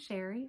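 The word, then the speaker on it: Chere: My name is Sherry and that is spelled C-H-E-R-E. It is spelled a little fancy but pronounced plain old Sherry, and I'm a full-time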